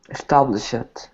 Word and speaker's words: established: Okay, this word has sh at the end of it, so we say this word is established with a T sound. Established. We don't pronounce the ED as ED for this. Okay, established.